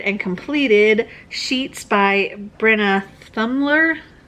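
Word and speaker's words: Thummler: completed sheets by brenna thumler dumbler i think is how it's pronounced anyway this is a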